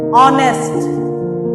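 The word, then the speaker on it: honest: बट इसका जो एच है वो क्या होता है? साइलेंट होता है। जिसकी वजह से इसका साउंड क्या आता है? वोवेल साउंड आता है। जैसे आर, ऑनेस्ट, अ, O sound क्या आए हैं?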